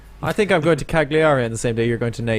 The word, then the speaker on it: Cagliari: Cagney and Lacey, It is Cagliari, isn't it? Yes, it is. Yes. You pronounced it perfectly, better than I could.